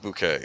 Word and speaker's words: Bucket: Sweet Bouquet. Okay. Not Bucket.